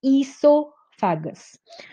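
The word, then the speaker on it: oesophagus: एस लिखते हैं एंड ओ is silent here. So इट is pronounced as ईसोफेगस.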